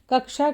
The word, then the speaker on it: कक्षा: जैसे कक्षा को कच्छा कहना, योग को जोग कहना,